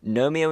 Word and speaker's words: gnome: list I've put together Gnomeo and Juliet was a 2011 animated film presumably arising from a combination of the fact that gnome rhymes with Rome and someone at touchstone